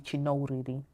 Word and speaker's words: Chinouriri: In Zimbabwe, especially with accent and pronunciation, it's actually Chinouriri.